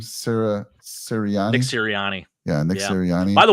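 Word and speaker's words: Sirianni: you say Nick's last name Sarah serani Nick serani yeah Nick serani by the way Jamestown New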